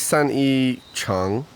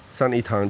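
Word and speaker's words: 三一堂: Sanyi Chang? Tang. Oh, Tang. Sanyi Tang, Trinity Church.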